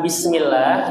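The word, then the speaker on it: بسم الله: Bisnya kurang kurang keras. Kurang mengeluarkan suara. Bis bismillahirrahmanirrahim. Bibirnya ini agak kebuka. Bis. Bis. Nah. Bismillah.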